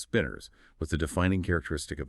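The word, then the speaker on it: spinor: Remember, pronounced spinners.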